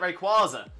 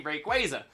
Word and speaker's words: Rayquaza: when I realized that actually makes a lot more sense to be Rayquaza because Rey like rays of light blah blah blah and quasar Quasar in space which is where you